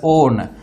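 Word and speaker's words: -one: Similarly, if the functional group is CO, we use a secondary suffix as ONE, pronounced as own, and the compounds are called as ketones, represented by general formula RCOR-.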